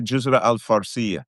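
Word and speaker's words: Jazirat al-Farsiyah: Jizra al Arabia. Jizra al- Farcia, right? That's how they say it in their language.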